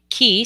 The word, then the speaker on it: cay: Key, C-A-Y, means a small island in the Caribbean, which is where I live, through manifestation and the law of attraction. It's spelled C-A-Y and pronounced key.